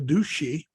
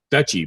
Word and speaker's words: duchy: retire the the and I don't pronounce the word the douchey the dutchie d-o-c-h-y ear pronounced duchy but you know right